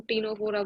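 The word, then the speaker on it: Ctenophora: Like इसको एक तो इसमें टी साइलेंट, सी साइलेंट रहेगा, इसको हम टीनोफोरा बोलते हैं।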